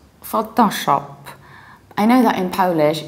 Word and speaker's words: Photoshop: can say photon bus in English we say photo so you need to round two syllables photo photo that's why you say Photoshop Photoshop and you might start